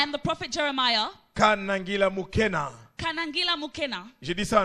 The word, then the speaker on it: Mukena: pronounce it as McKenna. Mais je ne suis pas Makena, je suis But Mukena.